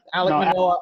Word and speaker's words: Alek Manoah: Yeah, Alek Manoah.